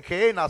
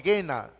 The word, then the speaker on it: Gehenna: Algunos esa expresión no dicen Gehenna, sino el Gena, ya sea la manera en la cual se pronuncie, ese es el lugar el cual están señalando, Gehenna.